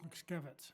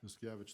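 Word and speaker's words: Muszkiewicz: That bill is being carried by Luke, and I can't remember I never figured out how to pronounce his last name, the ex-trustee from Helena, Luke Luke Miskevich. Miscavige, thank you, who's now in the legislature.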